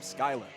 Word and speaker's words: Schuyler: Another interesting thing to point out for the Hinsdale Hornets, their quarterback, Jackson Schuyler, is how you pronounce his last name, Schuyler.